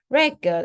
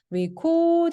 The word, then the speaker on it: record: 그래서 얘도 어때요? break the record. record 앞에 있으면서 re로 이게 그 발음이 바뀌어요. 그리고 얘는 어때요? record your voice. 동사라서 뒤에 강세가 있습니다.